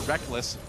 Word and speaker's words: Rekkles: Oh, the Q stops Rekkles, or Reckless, for going back. Rekkles. Technically, it is written Rekkles. Yeah. It is. You spell it phonetically. All the way back in his first major tournament, IPL 5, the Rekkles and Reckless debate was in full swing. I still want to call him Rekkles, but I've just gotten so used to calling him Reckless because he says so.